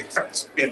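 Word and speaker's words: Hirschfeld: You got to say Hirschfield. You have to. You got to say it like that.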